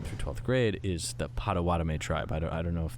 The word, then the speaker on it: Potawatomi: But it's not I mean, I don't know we if I say pronounced- Potawatomi. Okay. Potawatomi.